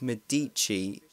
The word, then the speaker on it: Medici: This time, in the setting of Rico's actual self-homeland of Medike, I like to pronounce a location, but officially it's called Medici, I've just heard.